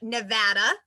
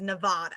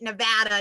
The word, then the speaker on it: Nevada: am a native of nevada i should also point that out bonus points if you say it correctly we get very very angry if you say it as nevada so if you learn